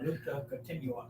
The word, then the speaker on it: luta continua: How you say it, El Luta Continua or something like that. Luta Continua.